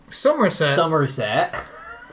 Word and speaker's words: Somerset: Somerset. It's spelled differently. Like summer. But it's like summer.